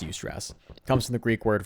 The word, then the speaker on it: eustress: It's pronounced eustress.